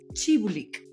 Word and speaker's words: Țîbuleac: Y este episodio vamos a hablar del libro de Tatiana Chibulik, porque parece que la T con el ganchito se llama T.